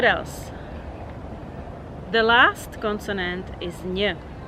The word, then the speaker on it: ň: It's very easy to pronounce because it's very similar to the word, to the sound in the word new in English.